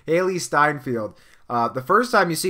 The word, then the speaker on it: Hailee Steinfeld: by the way like Haley send with I believe that's how you say her name mist sorry Hailee Steinfeld that was completely wrong Hailee Steinfeld the first time you